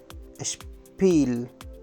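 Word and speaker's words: Spiel: همین طور دوستان عزیز هر وقت بعد از اس پ یا ت بیاد صداش عوض میشه البته فقط در شروع جمله ببینیم که به چه شکل است بعد از اس اگر پ بیاد اشپ خونده میشه اشپ مثل اشپیل مثل اشپیل اشپیل بازی است بچ مثل اشت اشت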